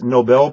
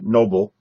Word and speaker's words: Nobel: you're saying well done it's nobel prize not uh noble so make sure you learn how to pronounce that next up is